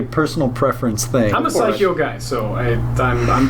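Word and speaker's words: Psikyo: fun such a personal preference thing I'm a psycho guy so I I'm I'm biased how do you pronounce the name of that company psycho psycho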